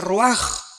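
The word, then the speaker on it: רוח: Se pronuncia roaj.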